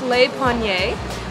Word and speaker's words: Le Panier: All right, so we got our croissant and our coffee and I asked the lady how to pronounce it. It's Le Panier which means bread baskets in French.